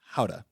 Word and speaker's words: gouda: known fact is that the correct pronunciation of gouda is howda that's that's right up